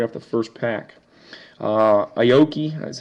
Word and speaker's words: Aoki: to you refractory off the first pack uh Aoki that's how you pronounce his last name I know who he